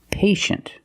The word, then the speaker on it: patient: examples patient and initial with patient we see TI e making the sh sound patient the first syllable is a long a like day and P pay and shin the second syllable is a close sound sh sh patient patient could be